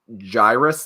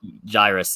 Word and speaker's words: Jairus: this guy so much i think it's pronounced gyrus like cyrus with a j i'm not totally sure what to see on the show i also think about it right i did my bad i i i switched the i and the r in the in the pronunciation that jairus yes that is my